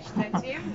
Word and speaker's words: Szczecin: Well, I've chosen Poland, because one of my friends, she recommended, she said that she was there in Szczecin, am I saying it correctly? Adrianna: Correctly, Szczecin, that's fine.